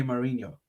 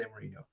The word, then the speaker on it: Mourinho: It also is Jose Mourinho, not Jose Mourinho.